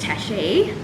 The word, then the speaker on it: Tashe: do you do well my name is tashi pronounced like cafe i think a lot